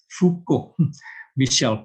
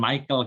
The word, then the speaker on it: Michel: Michel Foucault. Dan Michel bukan Michael karena dia bukan orang Inggris. Michel Foucault, Mark C.